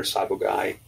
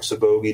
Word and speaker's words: sabogae: those like boa imperator sabogae or sabogi depending on how you want to pronounce it.